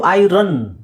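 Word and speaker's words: iron: American ಪ್ರೊನನ್ಸಿಯೇಷನ್ okay next ಇದು ಇದು ಐರನ್ ಅಂತ ಹೇಳ್ತೀವಿ ನಾವು ಐರನ್ ಇಸ್ ಓಕೆ ಬಟ್ ಅದರ ರ ಹೇಳೋ ಅವಶ್ಯಕತೆ ಇಲ್ಲ ಅದನ್ನ ನೀವು ಐಯನ್ ಯನ್ ಅಂತ ಹೇಳಬಹುದು ಕಬ್ಬಿಣ ಐಯನ್ ಐರನ್ is okay but ಐಯನ್ is perfect okay so okay ಬೇರೆ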